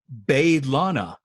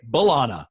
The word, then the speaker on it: B'Elanna: introduces herself to Kim she pronounces it bathed Lana because the rest the show we say B'Elanna right we don't really say bay Lana but she says and